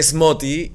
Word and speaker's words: Smoothie: Entonces dije, ya no voy a poner Smoty, que vuelva a ser Smoothie, pero se pronuncia Smoty y ya que la gente lo pronuncie como quiere, pero creo que es una palabra mucho más buscable.